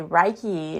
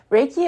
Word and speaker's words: Reiki: It's always funny whenever you first talk to people because they'll say Reiki you know they mispronounce it. Raiki is actually an ancient